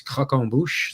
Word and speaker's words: croquembouche: called uh in well, it's a French pronunciation, but it's croquembouche.